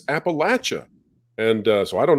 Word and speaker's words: Appalachia: uh he he uh the word Appalachia was brought up and I I think I pronounced it that way appellation or Appalachia and I was criticized by people from that area who said it's Appalachia and uh so I